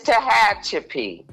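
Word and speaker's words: Tehachapi: at Tahache prison and it's called Tahachi. Since people can't pronounce it, it's Tahhatchip.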